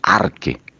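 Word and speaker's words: ἀρχή: La palabra principado viene de la palabra griega, arche, o se pronuncia arque.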